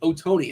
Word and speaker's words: Ohtani: chad saying it's for it's pronounced oh tony i believe that's uh your boy chop that's the way he pronounces his name does that sound about